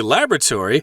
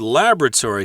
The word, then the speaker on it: laboratory: I should mention the word laboratory here. That's the American pronunciation. And Pat, I believe as an Englishman, you say laboratory. That's right, laboratory, or just lab.